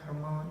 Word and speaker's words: Hermon: In the Psalms, it talks about they call it Mount Hermon, is actually how it's pronounced, but it's the only snow in Israel.